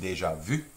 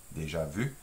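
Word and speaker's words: déjà vu: see like it's spelled we see it in English in deja vu but it should be pronounced in deja vu deja vu already seen and then boot which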